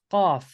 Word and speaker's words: Qaf: So the final letter of the single letters is Qaf, which appears in 50s, chapter 50. QA, yeah, it's spelled QAF, yeah, right?